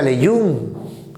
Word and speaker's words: Lejeune: Por ejemplo, el síndrome de Lejeune con J, se pronuncia Lejeune, apellido de un genetista francés, también llamado monosomía, el par 5.